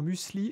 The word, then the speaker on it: muesli: c'est moi non mais on est toujours musli et pas muli et bien moi je